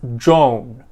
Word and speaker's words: Joan: man or a woman students learning english often pronounce both these names very similarly or many times even exactly the same by pronouncing both as joan which is the long o used for the woman's name joan however this is not true for the man's name john a little bit of